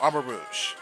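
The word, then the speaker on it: Armarouge: All right, moving on to Armor Rouge. Yes, that's how his name is pronounced instead of how I pronounced it a while ago.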